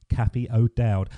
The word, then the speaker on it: Cathy O'Dowd: name ruin Zori no you got it spot on for the English pronunciation I don't think any